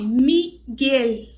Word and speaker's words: Miguel: Então, palavras do tipo o nome, Miguel. Ponta da língua vai para o céu da boca, porque não existe o Miguel.